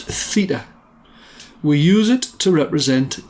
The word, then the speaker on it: theta: The wiggly zero is another Greek letter of the alphabet pronounced theta.